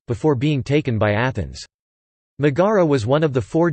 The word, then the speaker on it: Megara: Megara Greek Megara pronounced Mira is a historic town